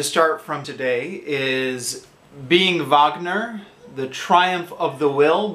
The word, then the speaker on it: Wagner: from today is being vogner the triumph of the will by Simon Callow it's you can see it's spelled like Wagner but I believe it's pronounced vogner right so why am